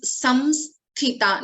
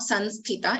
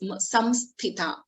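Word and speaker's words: संस्थिता: It is samsthita, not sansthita. It is samsthita.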